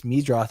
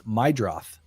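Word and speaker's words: Meidroth: Did you actually know that Chase Midroth is not pronounced that way? It's Maidroth.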